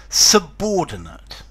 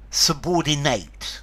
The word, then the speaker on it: subordinate: hi there students subordinate a noun a subordinate subordinate an adjective and then the verb subordinate subordinate to subordinate so notice there's a difference in pronunciation a subordinate there's awah